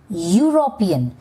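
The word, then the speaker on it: European: Now, when you pronounce यूरोपियन, what is the sound? यूरोपियन। इट इज़ a sound of you which comes again under consonant. Hence, it इज़ अ यूरोपियन। The fifth one is union.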